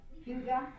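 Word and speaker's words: hygge: Huga.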